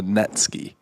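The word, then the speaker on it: netsuke: holds kimono belts together called a netsky it's spelled n-e-t-s-u-k-e and they are commonly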